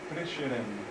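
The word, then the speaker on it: Prešeren: européen qui s'appelle franis prcheren ce petit til de là ça indique que le S se prononce che slovain puisque les slovaines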